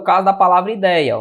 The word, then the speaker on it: ideia: Ou seja, onde é que está a sílaba tônica? Na paroxítona.